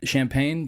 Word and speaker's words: Champaign: Yeah, Urbana champagne, just like the drink.